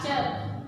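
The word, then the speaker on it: ceuk: Nah, kata cek ini ada C-E-U-K, dibacanya cek, bukan C-U-K ya.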